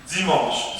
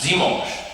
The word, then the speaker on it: dimanche: Dimanche. Dimanche.